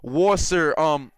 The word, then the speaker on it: Worcester: Brandon Chewy Black, just saying it's pronounced Worcester.